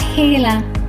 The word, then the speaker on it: Gila: lizards in the world it is spelled g i l a but pronounced hee-luh Fire salamander they can